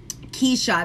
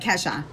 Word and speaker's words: Keisha: Keisha. That's how she pronounces it. Keisha. So she doesn't pronounce it like Kesha.